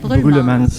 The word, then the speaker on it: Brullemans: Brulmans, je le prononce bien? Brulmans.